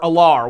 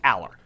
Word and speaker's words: Allar: More Drew Aller or Allar, whatever. I don't know how you pronounce his name. Exactly. The quarterback from Penn State. I believe his name is pronounced Aller.